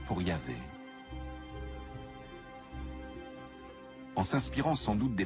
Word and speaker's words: Yahvé: Dans l'un des récits, Abraham appelle Dieu par son nom propre, qu'on prononce traditionnellement Yahvé. Les passages faisant référence à Yahvé, qui s'écrit avec un J en allemand, correspondent à la source J.